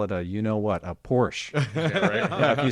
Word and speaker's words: Porsche: your side really quick, just say Porsche. Say 2 syllables, because they're going to